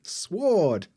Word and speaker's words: sword: swordfish swordfish yeah like why is there a w in sword sword sandwiches y but that's